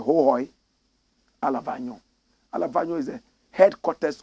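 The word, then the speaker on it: Hohoe: They say the correct pronunciation is Hohoi.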